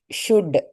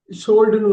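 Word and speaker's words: should: சி ஷுட் UL இப்ப நீங்க ஆக்சுவலா எள்ளு மட்டும்தான் சைலண்ட் சொல்லுவாங்க. ஷோல்டுன்னு வந்துடும். யூ கட் பண்ணீங்கன்னா ஷோல்டுன்னு வந்துடும். ஓகே ஸோ SHOUD ஷுட் எள்ளு மட்டும்தான்.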